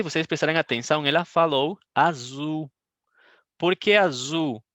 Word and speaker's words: azul: Mas não sei se vocês prestarem atenção, ela falou azul. Por que azul? Porque o L no final vai ter um som de U, né?